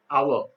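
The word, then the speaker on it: hour: Our. H is silent, starts with our.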